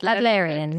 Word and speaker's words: Adlerian: And you're an, I know I'm going to mispronounce this, Adlerian? That's it, Adlerian, yeah.